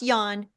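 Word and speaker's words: Jan: in my book is Yan V white it's pronounced Yan but it's spelled with a j j an middle name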